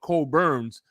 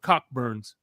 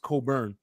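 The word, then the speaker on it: Cockburn's: You see it's it's spelled cockburns. Damn. Damn. It's not silent. Yeah, there's a Yeah, there's a port. If you see it, it's it says cockburn, but it's it's it's pronounced cobburn.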